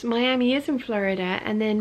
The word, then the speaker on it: Miami: Caroline says Miami is in Florida, and then Miami is pronounced my-am-er is in Texas, way up in the top